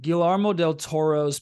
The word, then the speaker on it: Guillermo del Toro: Guillermo del Toro's Pinocchio.